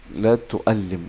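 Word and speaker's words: لا تؤلم: Akan tetapi ini bacanya la tuallim ya.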